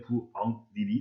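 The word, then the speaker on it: 부엌일: 니은 첨가 때문에 부엉닐이 되어야 하겠죠. 그런데 이 니은 때문에 기억은 어떻게 바뀔까? 예, 맞습니다. 부엉닐 이렇게 마지막으로 발음되어야 하겠지. 뒤에 비음 때문에 앞에 기억 예사소리가 비음 이음으로 바뀌었네요.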